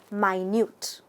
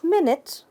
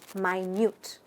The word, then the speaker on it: minute: we could describe as minute. Not minute, but minute. Notice it looks and it's spelt like minute, a period of time. But here it is actually pronounced as minute, meaning very small, incredibly small.